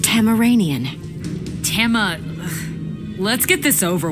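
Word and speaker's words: Tamaranean: need to establish boundaries so you're tasmanian it is pronounced tamiranian timma let's get this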